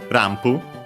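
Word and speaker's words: ランプ: and modified which is rampu pretty simple uh lamp from English uh uh the actually pronounced as M because of the following p uh uh accented just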